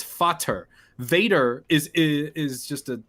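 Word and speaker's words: Vater: a fader yeah father it's spelled v-a-t-e-r in german because these are pronounced with f's so it's fatter vader is is just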